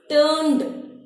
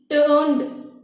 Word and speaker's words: turned: Whenever add this word, total this word, how like we can pronounce turned, turned. D. Last sound is d.